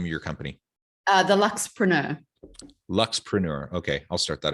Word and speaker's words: Luxpreneur: The Luxpreneur.